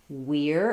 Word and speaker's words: we're: So we have a question about the contraction we're and there. So we are contracts to we're, And if I'm stressing on that, I'm going to have the E sound. It's going to sound like the ear sound.